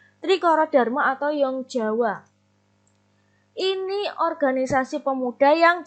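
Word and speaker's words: Jong Java: pertama adalah trikorodarmo atau young Jawa jadi bacanya Young bukan Jong ya dan nyawa bukan jumpa trikorodarmo atau young Jawa Hai ini organisasi pemuda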